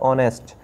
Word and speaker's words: honest: अब ये जो वर्ड लिखा है इसमें HONEST शुरू हो रहा है H से, लेकिन इसमें जो H है वो साइलेंट रहता है, शांत रहता है, उसको नहीं पढ़ा जाता, तो इसको पढ़ा जाता है ऑनेस्ट।